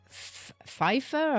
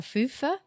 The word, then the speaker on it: Pfeufer: His name is Evan Pfeiffer or Fufer. It's spelled Pfeufer, and he's Pfeiffer. from Long Island. Foofer.